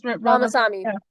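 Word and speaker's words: Ramaswamy: Ramas Ramosami is Ramasami. Vivc Ramasami. And um it's just crazy. And you just butchered his name.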